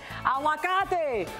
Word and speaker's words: aguacate: Aguacate.